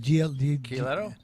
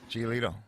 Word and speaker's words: Giolito: You pronounced his name right, Rick. Was it Giolito? Giolito or? Giolito.